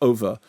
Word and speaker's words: Ove: far as we cancern so when I was watching oov isn't it yes it is and the closest I wrote a note to myself pronounced over because you know I was thinking o over and you was think so it's like somewhere between o and it's a over like that over under underdone exactly but as you